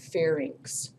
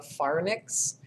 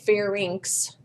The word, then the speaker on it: pharynx: and call it the far mix it's not that it's not NYX it's y mx it's inks like the Lynx cat right to cabinet the short tail so it's called the pharynx and the pharynx starts